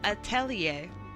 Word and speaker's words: Atelier: I've been practicing just for you, Atelier.